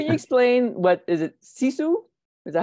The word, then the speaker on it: sisu: finish now can you explain what is it sisu is that how you pronounce it yes it means uh well tell